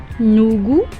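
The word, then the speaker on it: 누구: नूगू, नूगू, देखिए ठीक उसके नीचे मैंने स्पेलिंग भी लिखी है NUGU, नूगू, नूगू, नूगू।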